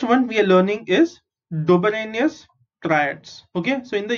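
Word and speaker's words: Döbereiner: D-O is do, B-E is be, R-E-I is re, N-E-R is ner. Dobereiner.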